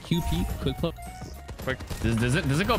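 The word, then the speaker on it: Kewpie: there's a thing are you talking about the cupid i just got yoinked no it's uh it's pronounced quick play like qp quick club does it go bad i've had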